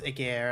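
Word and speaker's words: Ægir: age here I also I know it's a gear and I'm gonna try to pronounce it properly but it it just keeps in my mind it's a j sound and it's difficult to difficult to move away from that hello uni how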